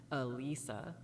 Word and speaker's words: Alyssa: The only thing we can guess about that is simply that it's the Japanese pronunciation of her name, which is backed up by the SP item Forgotten Gi, which has her name in Japanese written as Arisa.